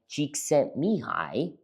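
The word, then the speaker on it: Csikszentmihalyi: here because you see there's a psychologist, Mihi Cheeks Mihi.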